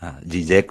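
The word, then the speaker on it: Žižek: Zizek, mi pronunciación es solamente por la lectura de la doble Z, Zizek, pero sí, yo digo Zizek, pero aclaro que es Z-I-Z-E-K, porque es claro.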